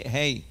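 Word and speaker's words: ה: But in Hebrew, like in Spanish, the H sound, the hey, is not pronounced too strong.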